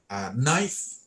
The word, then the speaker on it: knife: ต่ อ ะ ไ ร ค รั บ Knife ที่ แ ป ล ว่ า มี ด